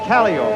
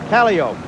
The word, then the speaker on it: Calliope: circus pala pala P or I might say Calliope and you'd say oh you're mispronouncing to know if that's the way the circus folks said it Calliope the traditional finale of the American circus street